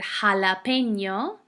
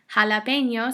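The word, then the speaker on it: jalapeño: all heard the word jalapeno jalapeno starts with the J but it sounds like an H seem so happen s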